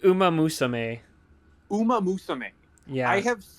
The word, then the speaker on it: Uma Musume: It's how do you say it? Usa Musume? It's like Uma Musume.